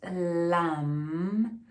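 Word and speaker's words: लं: So the difference is that when you pronounce lam, the sound ends here, as you can see, or hear better, lam.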